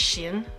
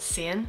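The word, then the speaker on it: Si-eun: Someone told me it's Sheehan, not Sian.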